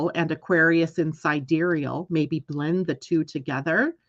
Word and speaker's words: sidereal: doing something different with my life confusion Tom it's spelled side real so why not pronounce it side reel AKA Scottish country dancing astrology that's funny uh